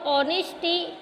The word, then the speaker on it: honesty: The next वन is words like our और ऑनेस्टी have a silent H. So when we are speaking the word HOUR, our or honesty, HONESTY, honesty, we are not speaking the H here.